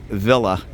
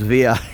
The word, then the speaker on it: villa: I'm Mexican and and any Mexican that would say v l Villa they're going to they're going to get some funny looks that's pronounced via in Spanish although I understand there's